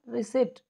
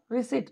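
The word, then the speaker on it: receipt: answer होगा वो होगा रिसिप्ट देखिए कितना फर्क होता है ना हमारे सोचने में और करने में की इसमें किस इसको पी को साइलेंट बनाएंगे कई बार मैं भी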